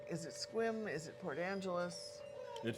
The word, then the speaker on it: Sequim: Definitely pronounced as if there were no E there, Sequim.